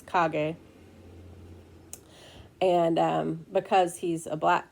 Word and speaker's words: Kage: It looks like cage when you spell it, Kage, but it's Kage.